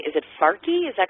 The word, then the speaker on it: Farsi: Yeah, it's Farsi with an F.